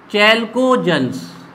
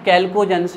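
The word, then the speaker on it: chalcogens: अब सबसे इम्पोर्टेंट चीज़ बात आपको ध्यान रखना है, इसका नाम चैल्कोजेंस। एक्चुअली में चैल्कोजेंस नहीं है, कैल्कोजेंस है, लेकिन हम चैल्कोजेंस इसलिए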